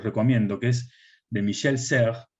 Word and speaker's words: Serres: Hay un texto, un libro llamado Pulgarcita, que se los recomiendo, que es de Michel Serres, se escribe Serres, con S, S-E-R-E-S, que Pulgarcita, Michel Serres